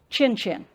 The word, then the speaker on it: Nkyinkyim: Yes, those letters are pronounced Chin-Chin.